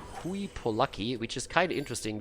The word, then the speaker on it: Hooye Polucky: But he told me Hooye Polucky, which is kind of interesting, because if you actually say Polacke in German, that's a slur against Polish people.